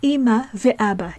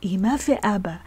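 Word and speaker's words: אמא ואבא: We pronounce the conjunctive vav as ve in this case, so we say Ima ve'aba. Ima ve'aba.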